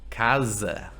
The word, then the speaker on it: casa: The S between vowels sounds like Z, right? The sound of the bees.